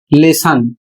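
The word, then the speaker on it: lesson: तो यहां पर देखिए एल E double S ओ एन और इसका उच्चारण होता है लेसन।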